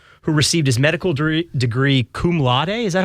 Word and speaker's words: cum laude: Michael Koren, practicing cardiologist and CEO of Encore Research Group, who received his medical degree cum laude. Is that how I say that? Yes, cum laude.